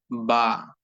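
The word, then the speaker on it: ب: কারণ বা অক্ষরটি উচ্চারিত হয়ে থাকে দুই ঠোঁট থেকে, দুই ঠোঁটকে একত্রিত করে, দুই ঠোঁটকে মিলিয়ে দিয়ে একসঙ্গে করে দিয়ে যুক্ত করে দিয়ে বা অক্ষরটি উচ্চারিত হয়ে থাকে।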